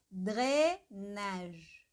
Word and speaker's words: drainage: Mas aqui, ó, dre, é quase como se a língua inteira encostasse no céu da boca.